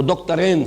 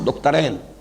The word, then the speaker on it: دکترین: ابھی نام لوں گا، وہ دکترین ہیں، میں عربی تلفظ استعمال کر رہا ہوں، دکترین، دو ڈاکٹرز ہیں، لیکن یہ کہ وہ فکر جدید کے حوالے سے کرنے کا کام کیا ہے؟